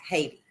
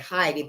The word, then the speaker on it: Haiti: H-A-I-T-I, Haiti. I don't know why I was calling it Haiti, but it's actually pronounced Haiti.